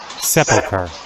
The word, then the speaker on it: Sepulchre: Keep following the streets eastwards, and you come to the what is the pronunciation of that again? Sepulchre.